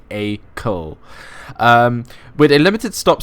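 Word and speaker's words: Acle: it's AAL cuz Ellie Ellie actually corrected me on the pronunciation of AAL it's it's a I thought it was AAL or something like that it's actually a CO um with a limited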